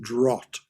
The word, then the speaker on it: draught: That's pronounced draught rather than drought. Drought, it's drought. It's draught. I see that. It's There's no woe. it's a measure of wine.